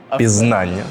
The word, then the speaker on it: пізнання: раз на правильний наголос пізнання а вперше моя а у першому Богдан помилився бо іменники середнього роду з частинкою Ання мають наголос на суфікс тому наголошується А зрозумів